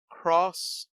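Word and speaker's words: Xross: dragon quest dino dabokin cross yeah cross crossblade or x where they have it spelled as x r o s s which is pronounced cross uh arcade game is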